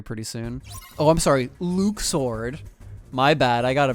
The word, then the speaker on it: Luxord: Oh, I'm sorry, Luke Sword. My bad, I gotta pronounce it the right name, right way from now on. The fact that Luxord doesn't have luck pronounced anymore is an actual mistake.